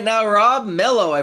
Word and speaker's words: Mello: I have on Zoom with me right now Rob Melo. I pronounced that correctly, right?